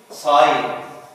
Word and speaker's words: sign: Like in sign. Sign. Or design. Design. We don't pronounce it G، ما بننطقش هنا حرف أو صوت الجا، بنقول sign design كأن حرف الجي كتب ولم ينطق.